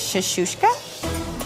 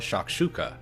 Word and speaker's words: shakshuka: But when it came to introducing it, she confused the audience and Gordon by mispronouncing the name of her signature dish. This is shashka. Shashka, which is a Middle Eastern dish. The spicy egg and tomato dish is actually called shakshuka.